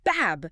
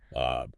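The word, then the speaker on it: باب: You don't want to just say a quick bab. You want to emphasize that long a sound. So, holding it longer, right? Think of the A in the English word father, but hold it for just a beat longer.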